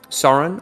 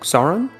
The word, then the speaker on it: Soren: the rubble and um sauron i always get his name wrong soren sorry yeah yes uh is from